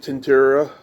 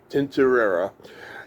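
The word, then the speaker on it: Tintorera: How you pronounce it? Tinterera. Tinterera.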